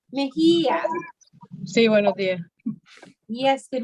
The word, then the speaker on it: Mejía: Mejía. Señora, pronuncie su nombre de nuevo. Mejía.